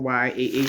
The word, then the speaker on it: Jah: Uh, some some of them says the actual Y, Ah, some of them says J A H, but it's pronounced Yah with a Y.